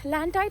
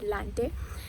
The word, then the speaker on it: Lantite: And that some people pronounce it as Lantite and some people call it as Lante.